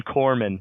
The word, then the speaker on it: corpsman: JD like saying something about like you don't pronounce the s in in Corman oh yeah no no one wants to have the corpsman come in be like don't worry I'm calling